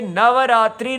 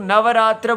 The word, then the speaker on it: नवरात्र: समझ में आता है कि नवरात्रि नहीं होता नवर रात्र्राः तो ऐसा लगता था जैसे कि लोग नवरात्र बोलते हैं तो अपभ्रंश है लेकिन नवरात्र ठीक उच्चारण है।